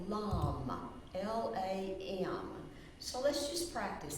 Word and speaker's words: LAM: We say the syllable LAM, L-A-M.